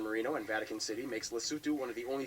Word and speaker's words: Lesotho: Oh, by the way, this country is pronounced Lesotho. Lesotho. Lesotho or Lesotho. I've heard it pronounced both ways.